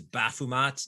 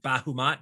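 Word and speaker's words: Baphomet: or bao not val it was baffumat not bahumat but b-a-m-p-o-t we'll spell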